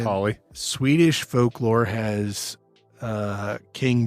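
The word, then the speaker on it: Holle: o l l e I don't know how you'd pronounce that hly hly yeah it's just Holly Swedish folklore has uh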